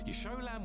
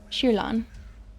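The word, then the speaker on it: Jiyan: arrange the wounded there yolam would need your help more than I do what how did he just pronounce that that was not right shilan is how that should be thank you but I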